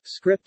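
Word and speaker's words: scrypt: litecoin however uses the script algorithm originally named as s crypt but pronounced as script this algorithm incorporates the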